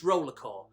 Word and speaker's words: RollerXCore: It says Roller X Core, but apparently you don't pronounce the X. What's it there for then? But no, I'm only joking, it's Rollercore.